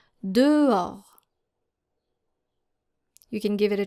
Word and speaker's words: dehors: And this can be challenging because we have the letter H here that is very tempting to pronounce. Especially for English speakers, they always tend to pronounce the letter H in French, but in French it is silent. And this is how you're supposed to pronounce this word. Dehors. Dehors. So the H is silent and the S is silent.